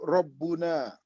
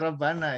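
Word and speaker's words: رَبُّنَا: Allahu Rabbuna. Iya, Allahu Rabbuna. Jangan dibaca Rabbana ya. Jangan dibaca Rabbina juga. Allahu Rabbuna.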